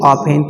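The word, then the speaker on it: often: ठीक है, कुछ लोग ऑफ्टन बोलते हैं, बस यहाँ पे एक क्या हो जाता है, साइलेंट हो जाता है।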